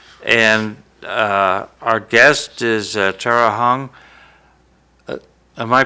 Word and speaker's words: Tara Hong: down in Florida and uh Our Guest is Tera Hong am I pronouncing your name right yeah ter okay uh